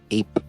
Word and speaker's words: EYP: be the work of EYP, which is Greek's intelligence agency, pronounced Ape.